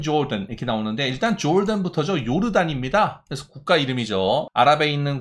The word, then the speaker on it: 요르단: 근데 요르단인데 이거를 조던이라고 읽고, 그러니까 J가 이렇게 Y처럼 읽혀지는 경우가 꽤 있어요. 그래서 그런 것만 좀 신경을 써주시고요. 요르단으로 읽어도 되고 조던으로 읽어도 됩니다.